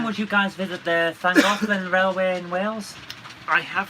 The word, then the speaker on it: Llangollen: Jen, would you guys visit the Llangollen Railway in Wales? I have visited it in the past, and yes, Did I I would pronounce go it right? Llangollen.